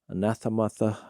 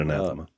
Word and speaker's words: anathema: It's that word anathema, anathematha, or how do you say that? That's it, anathema.